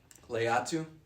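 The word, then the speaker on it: Laiatu: Williams, I don't know how do you say Latu's first name? Latu Leatu.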